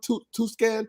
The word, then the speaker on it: Tucson: phoenix i was in uh well how you pronounce tucson to scan two yeah tucson tucson arizona yeah why so